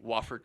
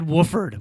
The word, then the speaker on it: Wofford: yes, Say it correctly. Wofford College. Wofford. I said Wooford once in man. front of There's him. only one O.